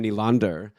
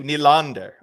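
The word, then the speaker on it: Nylander: they were telling me that I wasn't saying nander right because it was like nander and so I started saying on the podcast I was like William nander and like getting that good dip there on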